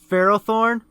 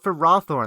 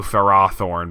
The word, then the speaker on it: Ferrothorn: on speaking of which Ferrothorn yeah yes affair okay don't worry why do those why do they why do some people call it for rothorn that's so weird it